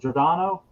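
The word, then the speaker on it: Giordano: perez and uh dick giorgianna is it jordano is how you say it goradano um oh yeah this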